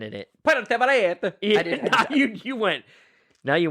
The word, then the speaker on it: Puerto Vallarta: You got to say it like just like that. No, it's hard because I worked with... Puerto Vallarta.